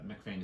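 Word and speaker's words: MacPhain: And MacFain is spelled with a PH. Is it Mac or Mick? Mac, M-A-C.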